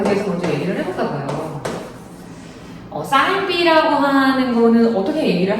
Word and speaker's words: 사인: 그러니까 삼각비라고 하는 거는 우리가 주요하게 얘기하는 게 사인, 코사인. 또 이거 친구들이 세인하고도 많이 발음합니다. 그러니까 사인이고요.